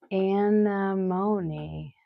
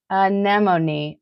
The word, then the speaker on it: anemone: Anamony cuz someone said alimony. Anemone. Ah, anemone.